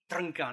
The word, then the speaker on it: Trnka: was hugely influenced by this guy here, Jiří Trnka. I'm actually here because I can pronounce his name properly. And you too can do this if you try. His name is Jiří Trnka.